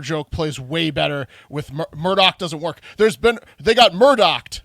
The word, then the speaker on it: Murdaugh: I guess Murdaugh, spelled Murdaugh, and Google pronounced Murdaugh, is pronounced Murdoch.